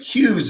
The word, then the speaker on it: Hughes: The GH doesn't work well for a lot of people. And I get called Mr. Hughes a lot. Oh, thank you, Mr. Hughes.